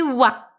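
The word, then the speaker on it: は: Et là du coup il se prononce wa.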